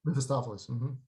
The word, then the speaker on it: Mephistopheles: Mephistopheles.